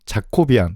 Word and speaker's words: Jacobian: 이걸로 이루어지는 트랜스포메이션의 자코비안 또는 야코비안이라고 읽습니다.